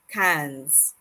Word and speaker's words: quinze: I know you may be tempted to say quinze, but 15 is cans. Think of it like one soda can, but two soda cans.